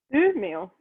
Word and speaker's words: Umeå: Ellen, youth living in, how do you pronounce the name of the place? Sorry. Umeå.